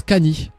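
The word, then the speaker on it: カニ: à Luffy sont plutôt au crabe qui en japonais se prononce Cany mais en inversant les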